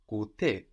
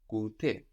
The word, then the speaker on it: goûter: Again, this is like our ST or S hard consonant pattern that we saw, like in the word party, feast, fête, beast, bet. No, the ST of like gusto, which we say sometimes in English, no, or disgusting. No, there we lose that S for that T, goûter, to try, but like